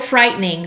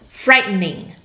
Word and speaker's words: frightening: It's frightening. Notice how I pronounce frightening. Frightening. Frightening. Okay, so you can say the word frightening, with a t, it's a n, t, n. That whole swallowed part, frightening.